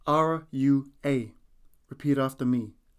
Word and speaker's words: rua: numbers from 1 to 10 number one is is spelled t a i repeat after me number two is Rua spelled r u a repeat after me Rua Rua number three is T spelled t o